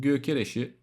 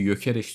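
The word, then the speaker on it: Gyökeres: Gökereş'i gerçi Yokş diye okunuyormuş.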